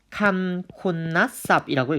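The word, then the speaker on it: คุณศัพท์: 형용사는요, 감콘나쌉이라고 읽습니다. 감콘나쌉. 죄송합니다. 감콘나쌉. 여기서도 마찬가지 이 너넨이라는 자음이 두 번 덧나서 받침으로도 한 번 소리 나고 초성으로도 한 번 소리가 나는 음절과 음절 사이에서 한 번 덧나는 구조를 또 보여주고 있습니다.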